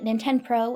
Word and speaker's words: Nintend Pro: this City's talent agency named nintend Pro as in rhymes with Nintendo she gets frustrated by